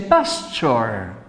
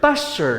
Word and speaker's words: pasture: So in this pen, you see the pasture. Pasture, like picture, pasture. Remember, picture. You say picture, and you see here the pasture.